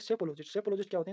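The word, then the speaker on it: psephologist: Next है अपना सेफोलॉजिस्ट। इसमें पी साइलेंट होता है, ठीक है? लिखने में भी आता है और बोलने में पी साइलेंट होता है, तो इसको बोलेंगे सेफोलॉजिस्ट।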